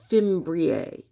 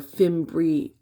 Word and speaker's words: fimbriae: They're called fimbriae or fimbrii, depending on how you say it.